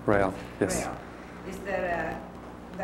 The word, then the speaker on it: Rael: The other thing is that, there is a communication, dictation, or channeling, or between them and, how you say his name, Rael? Rael, yes.